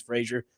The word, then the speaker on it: Frazier: My name's Frazier. Spelled a little different, but pronounced the same.